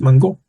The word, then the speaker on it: mango: Remember, words have accents at the last syllable, okay? That's why it is mango.